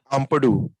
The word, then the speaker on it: Ampadu: Ampadu, Ethan Ampadu's red.